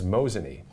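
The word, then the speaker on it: Mosinee: your your town there and I believe it's mosan so m o s i NE is mosan I didn't know it could have been MOS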